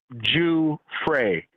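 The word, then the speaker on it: Giuffre: it's not a joke but her name is pronounced Jew fry J J fry okay Dre Fray yeah uh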